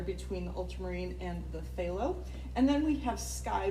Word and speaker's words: phthalo: blue then we have phthalo blue which is spelled with a p and it is a